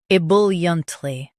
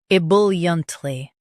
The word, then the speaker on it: ebulliently: Both US and UK have the same pronunciation of this word, EBULLIENTly. Now read the syllables shown on the screen naturally. I, bull, yunt, ly. EBULLIENTLY. Stress bull and keep yunt soft.